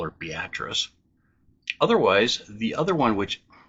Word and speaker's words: Beatrice: Our next city is often mispronounced in a few different ways, and that's Beatrice, Nebraska.